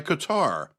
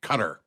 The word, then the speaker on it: Qatar: And yes, that's how I'm going to say it. I always hear the talking heads on the news pronounce it Qatar. They put the accent on the wrong syllable, if you ask me.